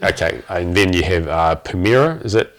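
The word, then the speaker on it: Pumyra: Okay, and then you have Pumira. Is that how you pronounce it? Pumara.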